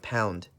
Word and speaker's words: lb: the pound a pound the short way to write pound is lb lb but we say pound this is pronounced pound